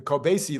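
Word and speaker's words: Kobeissi: I finally found out how to pronounce that it's spelled k o b i SSI the coasy letter while CPI inflation is at 3.4% inflation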